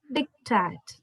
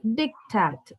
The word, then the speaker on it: diktat: D is being stressed and A is pronounced as A in apple. It is dictat.